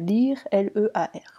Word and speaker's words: Lear: ceux qui l'ont pas ça s'écrit Lear c'est pas l'oiseau lyre comme vous connaissez peut-être les autres paradis tout ça non pas du tout c'est lire comme le roi d'ailleurs pour boucler la